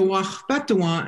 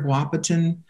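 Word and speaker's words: Waȟpéthuŋwaŋ: The Wachpetuan, that's the dwellers among the leaves, and the Sisituan, the dwellers among the fishing grounds. So the Wachpetuan and the Sisituan, now if you're from here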